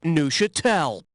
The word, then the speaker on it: Neuchâtel: Now, I want you to tell me which of the following phrases best rhymes with this word. Hee-haw gel, boofa bell, P.U. they smell, or who the hell? The cheese is pronounced Neuchâtel.